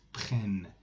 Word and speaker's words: prennent: Vous prenez, ils prennent, elles prennent. Pronounced it prennent.